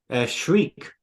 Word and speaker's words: Shrike: It's really odd because she says Shriek, and I always thought it was Shrike from the way it's spelled. I think it's Shrike, but I think she's got an accent in this. Yeah, I don't know. It's one of those ones where I've like never heard it out loud, so probably.